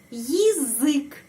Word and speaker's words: язык: Terus di sini huruf ya, huruf ya. Tapi ada beberapa macam untuk pengucapannya huruf ya. Di sini huruf ya tidak mendapat penekanan. Di sini huruf I mendapat penekanan. Karena itu huruf ya dibaca yi. Bukan ya, tetapi yi.